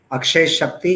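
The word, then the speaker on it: Akshaya Shakti: Akshay Shakti, yes, you spelt it rightly or you pronounced it rightly.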